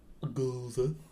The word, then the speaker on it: Gose: Gose.